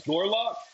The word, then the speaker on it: Gorlock: You're saying the name wrong, but I know exactly what you're talking No, about. no, I'm not. It's Gorlock, the destroyer of worlds. Gorlock, the destroyer of worlds.